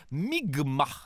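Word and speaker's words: Mi'kmaq: des membres de la nation mikmac qui se prononce en fait migma dans ce qui sera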